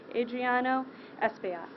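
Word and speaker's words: Adriano Espaillat: thank you i will be followed by congressman adriano espio she pronounced my name right thank you captain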